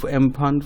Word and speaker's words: Amphan: तो अम्फान का जो ये नाम कैसे पड़ा अम्फान, तो अम्फान को जो प्रोनाउंस करते हैं ये अम्फन, ये इसको प्रोनाउंस किया जाता है।